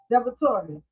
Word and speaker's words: DiVittorio: You have the incumbent uh uh Deviator.